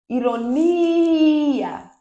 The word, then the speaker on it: ironia: Ironia, ironia. Gente, essa voz não tá legal, mas o importante é que vocês aprendam, tá certo? Então, esse ni é a mais forte, é a sílaba tônica.